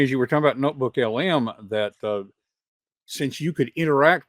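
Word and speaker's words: NotebookLM: And, although it did occur to me, as we're talking about the notebook LM, am I saying it right? LLM, notebook LLM. LM. It's just notebook LM.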